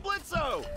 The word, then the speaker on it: Blitzo: hey that sounds like blitzo the O is silent hey